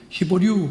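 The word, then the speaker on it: Hebrews: 그 히브리서를 영어로 히브류 그렇게 발음하거든.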